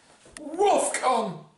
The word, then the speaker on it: WOFCON: And how are you really supposed to pronounce it? WOFCON! Yeah, just like that.